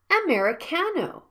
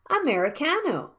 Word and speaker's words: americano: it sounds like children and the last one americano the fourth vowel is a stress syllable and the first vowel should be sounded silently and quickly like americano if you stress the